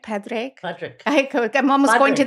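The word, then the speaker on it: Pádraic: Patrick. I'm almost Padraic. Going to that donkey. Patrick. Well, they just pronounced it in the movie. They were saying Porik.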